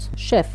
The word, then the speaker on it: chef: chef كما هذه عندها أصل فرنسي ننطقوها ش. so chef.